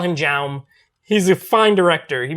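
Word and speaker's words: Jaume: of my favorite directors his name is not john but it's spelled j-a-u-m it's like how may or something but if you listen to the podcast you know i call him jam he's a fine director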